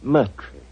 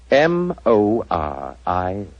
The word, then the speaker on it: Moriarty: My name is Murtry.